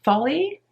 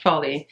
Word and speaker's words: Foley: guest list by lucy foley i think it's pronounced folly is a murder mystery